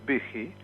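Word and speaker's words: Büchi: chile el señor virgilio se escribe buzzi sí pero por ser alemán se pronuncia big y este es el el hacedor de la bonanza chilena a partir del 83 no del 73 fue vicky gracias a que eliminó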